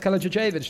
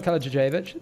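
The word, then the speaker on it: Kalajičević: Dueling Network guy says it's pronounced Kalajicevic, not Kalajicevic.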